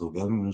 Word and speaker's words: ogham: J'ai commencé à m'intéresser par le druidisme et j'ai découvert les oghams. Bon, en vrai, ça se prononce Ogham, mais en français, tout le monde dit ogham.